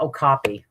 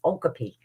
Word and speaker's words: okapi: And there's the okopy. Um, which the longest time I pronounced it wrong because it looks like it says okapi because they have zebra legs, a donkey body, and a giraffe head.